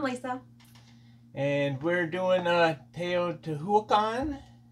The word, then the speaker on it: Teotihuacan: pronunciation and the uh the Aztec stress the second to last instead of tan T to t t